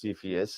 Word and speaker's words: Cepheus: So what's the C in Cepheus? It's actually pronounced Cepheus, and I actually looked it up.